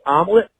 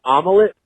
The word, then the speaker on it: omelet: there's Tom it's pronounced omelet not omelet it does not have three syllables in it please look I don't